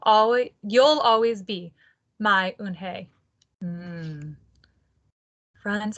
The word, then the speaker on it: Unhei: turned to joey she nodded slowly yes it's pronounced un hey and it and it means grace mr kim added ooh oon hey joey said slowly and this time perfectly it